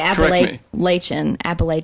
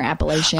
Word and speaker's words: Appalachian: People say Appalachian or Appalachian. Oh, okay. When you read it, the pronunciation. Looks like that. Yeah. But generally everyone in the area that we live in says Appalachian.